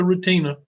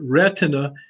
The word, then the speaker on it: retina: layer called the retina don't call it the Rutina it looks like it oughta be said yeah and somebody might take a name like that say my name is Rutina well you could get away with that you know we created with it but it retina is the way we say it in the medical profession do you have